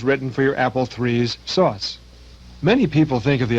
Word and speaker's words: SOS: are using is called SOS pronounced sauce and it stands for